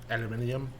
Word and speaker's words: aluminium: Because they say aluminium. Aluminium. Which may actually be the correct way to say it. Her whole Aluminum. Her whole thing is that there's not an extra I with the aluminium.